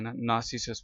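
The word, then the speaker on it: narcissus: ठीक है आबी नरगिस ये जो है नासिस पढ़ना है इसको आर साइलेंट है ये ब्रिटिश एक्सीलेंट की मैं बात कर रहा हूं ठीक है नासिस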